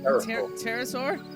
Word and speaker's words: Pterosaur: Pterosaur? The P is silent.